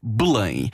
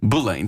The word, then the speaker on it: Belém: Voilà, qu'on prononce en portugais Belém. Belém.